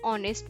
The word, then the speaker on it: honest: For example, an apple, an orange, an honest man. Here honest man is an because H is silent and honest O sound comes so it is an honest man.